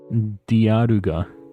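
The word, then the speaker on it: ディアルガ: Diaruga.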